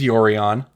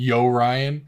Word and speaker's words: Yorion: be Yo Ryan. It's like a Orion, the star with like a sideways hat or something.